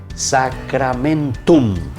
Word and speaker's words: sacramentum: La U al final y la M.